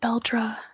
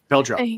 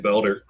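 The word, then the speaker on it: Beldre: Is it Bel and the audio book is pronounced Beldra? Beldra. Thank you. Beldra. That's right. I was saying Beler.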